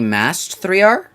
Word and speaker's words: Mast3r: I think you mispronounced my name. It's actually Mast3r. M-A-S-T-3-R. The T is before the 3, and then there's an M. There's the N is an S, but, like, that's close enough. Oh!